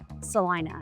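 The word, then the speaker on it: Celina: a little bit about Salina so it is spelled Selena everyone pronounces it Sal Ina I'm not sure why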